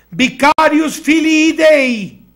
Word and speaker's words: Vicarius Filii Dei: En latín se pronuncia Vicarius Filii Dei, que quiere decir el representante del Hijo de